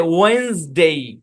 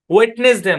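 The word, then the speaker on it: Wednesday: এই পুরো শব্দের উচ্চারণ হচ্ছে ওয়েন্সডে, ওয়েন্সডে, এরকম, মানে ব্যাপারটা এরকম, এরকম হওয়ার দরকার ছিল সেই হিসাবে। এরকম হওয়ার দরকার ছিল, সরি এটা আর না, এটা এন, ওয়েন্সডে, ওয়েন্স মানে এরকম আর কি, এরকম ওয়েন্সডে, ওয়েটনেসডে না। ডি তো সাইলেন্ট, সাইলেন্টই, শুধু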